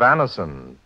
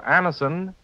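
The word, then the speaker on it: Anacin: This program is brought to you by the makers of Anison, the remarkable tablets that bring incredibly fast and effective relief from the pain of headaches, neuritis, and neuralgia.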